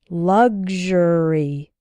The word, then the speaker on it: luxury: as well as luxurious in the word sexual the X sounds like ksh sexual and in luxury and luxurious it sounds like gzh good luxury luxurious I often hear students